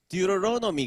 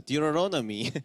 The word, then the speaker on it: Deuteronomy: Deuteronomy 그러다. Deuteronomy. 모음 사이에 T 발음은 단타음 R로 바뀐다.